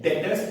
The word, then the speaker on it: debtors: बेटा customer is okay, but accounting point of view से उसे नाम देते हैं डेटर्स। एंड be careful, B word silent रहता है, इसे डेटर्स नहीं बोलते।